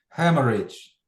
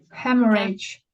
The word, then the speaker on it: hemorrhage: Hemorrhage. Hemorrhage. Так. Hemorrhage. Hemorrhage. Hemorrhage. Так, ось тут наголос виходить. Ставиться зліва від складу.